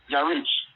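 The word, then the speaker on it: ירח: Pronunciation, Yarich.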